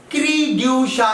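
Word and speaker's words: cri du chat: क्रीड्यूशा इसको प्रोनाउंस करते हैं, क्रीड्यूशा डिसऑर्डर.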